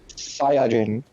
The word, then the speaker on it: Saiyajin: Like, no one, like, I don't even call it Super Saiyajin, but that's what it's actually pronounced. Like, the Saiyan is Jin. There is no, like, Saiyan Jin, if that makes sense. Saiyajin. Yeah, Saiyajin is how it's actually pronounced in Japanese, yes.